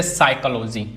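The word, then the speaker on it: psychology: जैसे साइकोलॉजी। अब इसमें पी गायब है।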